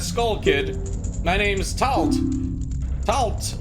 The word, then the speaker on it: Tatl: Tatl, with a silent L.